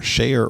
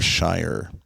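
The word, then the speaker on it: Scheyer: most recently John shayer I may be pronouncing his last name correctly s-c-h-e-y-e-r shayer or Shire by the way teams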